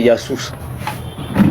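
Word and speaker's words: يسوع: Non, je vais finir par là pour dire que la prononciation de Jésus en arabe traditionnel, c'est Yassous.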